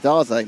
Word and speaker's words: Daze: Ryan Daisy, how do you say Ryan Daisy's name again? Daze, that's it.